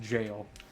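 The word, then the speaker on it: Gaol: G o even though G AOL is just an archaic British spelling of jail and it's pronounced jail and it made me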